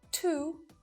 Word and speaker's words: two: But a silent W pops up a little more frequently than you realize in words like to, sword, and answer. You don't hear it at all.